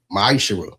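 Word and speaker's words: מעשר: You find this in the book of numbers 18 21 the book of Malachi 3 8-10 means 10th in Hebrew and it's pronounced misher 10% of every penny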